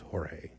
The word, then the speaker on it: Jorge: There's George Bell. It It's Jorge.